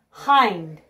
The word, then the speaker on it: hind: about STR OMG strong hind h i ND hind it means back your hind legs or your back legs hind it rhymes with kind and find legs l EG s